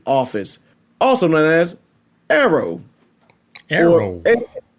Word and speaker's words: AARO: Arrow. Or AARO, because it's pronounced. The acronym is AARO.